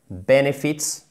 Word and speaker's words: benefits: Mais là, ce qui est vraiment intéressant au niveau vocabulaire, benefits, accent tonique sur la première syllabe, comme companies, c'est que le fait que les benefits, en fait, c'est tout le package, ok?